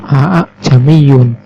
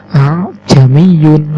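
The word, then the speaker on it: ءَأَعْجَمِيٌّ: itu a djam Byun bukan Aa jami'un sehingga baca cara membaca yang benar yaitu a jami'un langsung tidak bisa seperti Aa jami'un Hai kemudian yang keempat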